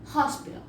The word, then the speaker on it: hospital: lo menos la palabra hospital. Hospital comienza con H, pero se pronuncia como con J.